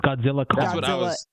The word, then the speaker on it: Godzilla x Kong: Kong Empire say the X apparently so it's Godzilla Kong Godzilla Kong I've been hearing people say Godzilla